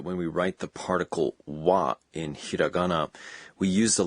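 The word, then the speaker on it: は: remains ha h a it's the same as in the wa in konnichiwa hello we pronounce it but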